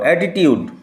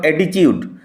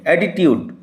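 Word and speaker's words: attitude: উচ্চারণ লক্ষ্য করো, অ্যাটিটিউড, নট অ্যাটিচিউড। অ্যাটিচিউড আমরা ভুল উচ্চারণ করি, অ্যাটিটিউড।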